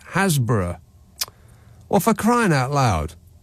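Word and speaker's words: Happisburgh: Romford texts hi Nick hburg in Norfolk is pronounced Hasbro or for crying out loud what a shame to replace the happy part of the word word yeah well exactly hapis Bur or happy zbur in Norfolk is pronounced hasb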